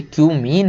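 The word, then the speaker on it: cumene: केवल कि क्यूमीन से, इसको कुछ और मत पढ़ लेना भाई, ये क्यूमीन है। बहुत सारे लोग समझ रहे हैं क्या क्या पढ़ लेते हैं, है ना, तो इसको वही पढ़ें जो इसका प्रोनाउंसिएशन है।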